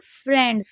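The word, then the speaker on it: friends: एंड फ्रेंड्स। फ्रेंड्स में मैंने बताया था आई ई को ए पढ़ते हैं।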